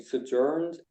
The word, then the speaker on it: sojourned: And Abraham journeyed from thence toward the south country, and dwelled between Kadesh and Shur, and sojourned in Gerar. Okay. And remember the pronunciation is up front.